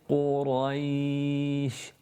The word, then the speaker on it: قريش: Qaf has a dhamma in it, so you have to pout your lips. Qu. Then you have the ra, which has a fatha followed by the ya. Quraish. Notice what I've done with my lips. When I've recited the ra, they come back to rest, almost like I'm smiling.